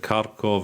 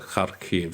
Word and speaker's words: Kharkiv: are speaking just call it kharkov and when one of the other when the west speak and when a western delegation speak you can call it kharkiv so it's important to know these these names in both languages in a school in